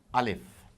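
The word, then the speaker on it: ألف: So here we begin by mentioning Alif. This is Alif, A-L-I-F. That is how it is pronounced.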